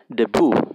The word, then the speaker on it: debut: it's a big event you know or a quinceanera right in mexico but this is we call it debu which is basically spelled like uh debut right it's actually a big